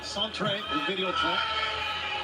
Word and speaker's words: Centre Videotron: Hey, I'd just like to say before this match gets underway, it's Centre Videotron. That's how you pronounce it, and that's the same place, Taz, that they put on that Gigi Katana earlier today.